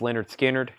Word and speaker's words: Lynyrd Skynyrd: their very first album pronounced Leonard Skynyrd um Shane gets the